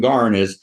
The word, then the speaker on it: Garn: But Ow and Garn it's A-O-O-W and Garn, G-A-R-N, which are these particular kind of, thank you, right, Cockney pronunciations.